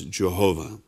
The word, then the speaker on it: Jehovah: of knowing God's name this Hebrew name is commonly pronounced in English as Jehovah Acts chapter 15 verses